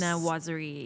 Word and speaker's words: Viennoiserie: Viennoiserie.